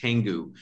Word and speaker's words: Canggu: It's pronounced Canggu.